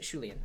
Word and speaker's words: Shulian: In English it's Shulian, so you pronounce it Shulian.